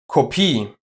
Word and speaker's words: Kopie: But watch out, the following ones are just pronounced with the long e. Kopie, Energie, Theorie, Genie, Melodie.